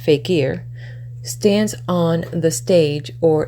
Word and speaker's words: fakir: The faker, pronounced fakir, stands on the stage